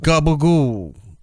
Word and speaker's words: capicola: It's spelt capicola. Yeah, I was going to say, it looks like capicola. Capicola. Which I love. But they call it gabagool because they're just dumb people.